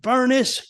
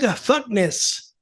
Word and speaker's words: Furnas: Doug Fuckness. No, don't say that. Doug Furnas. Oh yes. Doug Fuckness. And I couldn't get him to say Doug Furnas.